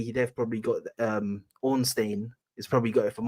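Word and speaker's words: Ornstein: out even yes David onstein Onin I know always he added an extra syllable I thought my I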